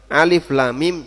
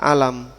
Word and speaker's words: Alif Lam Mim: muqattaah bacanya tidak disatukan sehingga Alif l mim Jangan dibaca alam HAM mim Jangan dibaca HAM kemudian Alif Lam Mim ro Jangan dibaca Almer tapi dia dibaca secara terpisah Alif Lam Mim ro